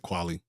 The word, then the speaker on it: Qualley: horror, sci-fi, starring Demi Moore and how you pronounce her next name? Margaret Qualley, Quilley, Yeah, I said Qualley.